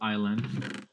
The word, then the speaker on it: island: it's why it's called island why because it's land island island and you can technically call it sea int land get it because you don't pronounce yes this land and then you can